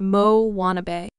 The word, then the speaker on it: Moanabe: On the fictional South Pacific islet of Motunui, there now exists a variety of tween girl known as the Moanabe, pronounced Mo Wannabe.